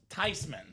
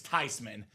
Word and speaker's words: Thyman: He's like, "Well, of course it's Tyman. It's a German name.